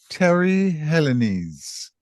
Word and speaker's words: Teri Helenese: Our guest today on Caribbeana is Teri Helenese. I hope I've gotten that right You correctly, Teri. certainly have. You pronounced it correctly.